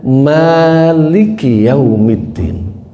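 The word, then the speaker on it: مَالِكِ يَوْمِ الدِّينِ: Imam Addhaq meriwayatkan dari Abdullah Ibnu Abbas cara bacanya maiki yaumiddin mimnya dibaca panjang.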